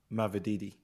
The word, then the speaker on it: Mavididi: I'm gonna go Mavididi. Okay. I feel like I said his name wrong.